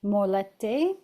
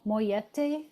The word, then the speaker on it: mollete: So, then we're going to use these buns to make our molette. Moyete. Yeah, two L's. Moyete. Don't go by my pronunciation.